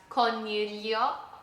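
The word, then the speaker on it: coniglio: We have cornelio which is bunny or rabbit.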